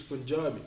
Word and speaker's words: Punjabi: It's Punjabi.